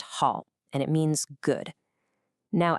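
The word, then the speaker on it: 好: It's pronounced hall and it means good.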